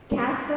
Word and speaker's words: castle: Silent T is not pronounced in these common words. Castle is never castle.